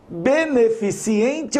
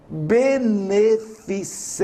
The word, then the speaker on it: beneficente: vai a uma festa beneficente em t ha olha como é fácil não tem esse equívoco a festa é beneficente em they então por favor não escreva nem fale beneficiente e sim benê fiz em e e